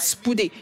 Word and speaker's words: spoude: la personne à écrire spouder. Et tu lui dis, j'ai besoin de vitesse, j'ai besoin de vitesse. Cela s'appelle Spoude, S-P-O-U-D-E, et on prononce cela S-P-O-O-D-Y, spouder, qui en français veut dire vitesse.